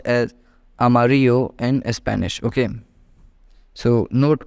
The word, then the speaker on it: amarillo: is when we're seeing whenever you see Double L together try to keep it silent while pronouncing it okay so yellow in English can be written as Amarillo in Spanish but pronounced as Amarillo in Spanish okay so